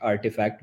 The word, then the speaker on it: RTFKT: Nike acquired a Web3 platform called I think it's pronounced artifact, but it's Mm, spelled out RTFKT.